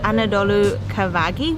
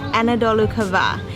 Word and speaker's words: Anadolu Kavağı: so spectacular so before I think I called this village Anadolu Kavagi which is completely wrong the way to pronounce it is Anadolu Kavağı so we're really slowly